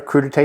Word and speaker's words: crudité: called the crudite platter crudite is French so the E with the little Accent on the end and crudite essentially is